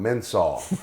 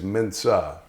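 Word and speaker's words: Mensah: the job I heard more people call him Mena that's not how you say his name it's Mena so who will win the job the guy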